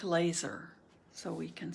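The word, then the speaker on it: LESR: embrace stop and remain l-e-s-r pronounced like laser so we can say l-e-s-r if someone says laser that works pronounced like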